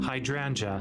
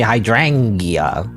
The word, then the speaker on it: hydrangea: us put the fine hydrangea hydrangea hydrangea hydrangea hydrangea cuz I want to say I always want to say hydrangia you know hydrangia it's like a